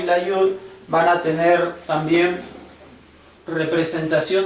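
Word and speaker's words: י: la bap y la yud van a tener también representación de vocal pero la representamos con la y porque estamos hablando de consonantes Aunque su pronunciación es como la i latina después tenemos cf cf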